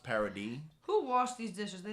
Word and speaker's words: Paradis: have a city that's spelled paradise but it's pronounced parody who washed these dishes they did a terrible